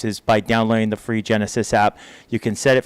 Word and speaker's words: GENASYS: One of the big ones is always about evacuations, and so we want to really encourage folks to download the Genesis app. It's spelled GENASYS.